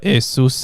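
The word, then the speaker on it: Ἰησοῦς: here right yeah so it would be pronounced uh asus in greek uh although i wasn't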